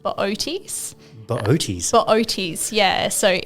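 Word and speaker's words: Boötes: Uh, I'd probably steer you towards the constellation called Booties. Booties. Booties. Yeah. So, it's How is that spelled? Oh, it's B O T E S. But you pronounce both O's, which is it's an odd one to say definitely.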